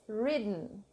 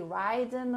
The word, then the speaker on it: ridden: So this is a word that Brazilians would say ridden or something. It's not that, it's ridden, okay? Ridden. So we say rid, and we don't pronounce the letter E at the end.